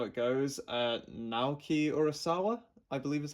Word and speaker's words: Naoki Urasawa: Naoki Urasawa, I believe is how you pronounce that, is apparently like an amazing, an amazing mangaka.